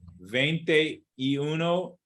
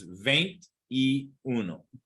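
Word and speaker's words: veintiuno: Uno okay Uno bentidos so most people what they do is they say vente and then they say vente Uno vente idos but it's not it's not vente e it's veined e ve cuatro venti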